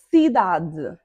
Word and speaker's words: cidade: Cidade, cidade, cidade, cidade. Deu para perceber, não é? Da é a sílaba tônica.